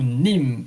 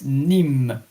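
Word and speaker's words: Nîmes: Aside that I was visiting two times France Paris and last year exceptionally I was taking a trip to Nim n i m e s nimh and Paris in English is par in French.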